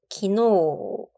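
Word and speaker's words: 昨日: 어제의 우 장음입니다. 기노.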